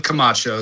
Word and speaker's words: Camacho: So, it's pronounced Kamacho, spelled just like it sounds.